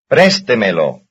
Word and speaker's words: préstemelo: Here is one stressed on the fourth last syllable. 5. Préstemelo.